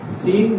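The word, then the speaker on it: Seine: সিন নদীর তীরে। এ আই এ সিন নদীর তীরে অবস্থিত। Paris situated on bank of river. Paris কোন নদীর তীরে অবস্থিত? সিন নদীর তীরে।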